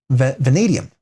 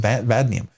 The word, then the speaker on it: vanadium: Vanadium. Vanadium. Why don't I pronounce it vadnium?